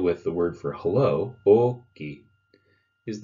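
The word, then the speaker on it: Oki: A fun thing you can do with the word for hello, okay, is the longer you've known someone, the longer you can stretch out that O at the beginning of the word.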